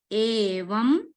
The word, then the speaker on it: Evam: Here if you observe, there is a little dot on top of the letter M. So that denotes Anuswara. Anuswara. So Purna Anuswara, it will be called as Anuswara. The sound of Anuswara will be here M. Only M, not full Ma. You have to pronounce like Evam Satata Yukta.